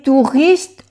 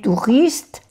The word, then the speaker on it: touristes: O sea, touriste. O-U-U, touriste. No se pronuncia la S.